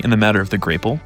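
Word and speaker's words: grapple: Thankfully, in the matter of the grapel, pronounced grapel, both Shaq and Willow are correct.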